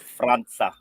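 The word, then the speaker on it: França: He actually corrected the woman yesterday in an interview and said it's not, because they have the little thing on the bottom of the C. It's Franca.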